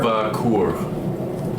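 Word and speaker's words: Lokvah Koor: It was Lock Kur. Lokva Kur. So, how do you spell it?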